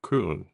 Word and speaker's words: Köln: to the city of Köln, which is also Cologne, but the German pronunciation is Köln.